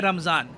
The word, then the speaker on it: रमज़ान: पूरा इलाका है ना, यहाँ पे हम लोग कहते हैं रमज़ान, वेराज जो अरब वर्ल्ड है और जो मिडल ईस्ट का बाकी पार्ट है वहाँ पे वो लोग कहते हैं रमदान। तो प्रोनाउंसिएशन का फ़र्क है, बाकी रमज़ान Ramadan they are both the same.